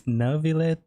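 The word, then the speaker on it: Neuvillette: but wait never let creepy still pronounce the name wrong it's navilet hmm I saw you all chatting just now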